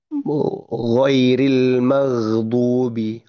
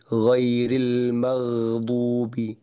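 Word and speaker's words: غَيْرِ الْمَغْضُوبِ: konsonan gin itu ketika bahkan ketika sukun gitu ya tanpa memantul tanpa qalqalah baik ya ghairil maghdubi ghairil maghdubi maghdubi maghdubi ghairil maghdubi ya seperti itulah makhraj atau pengucapan huruf gain dan juga sifat yang tidak memantul gitya.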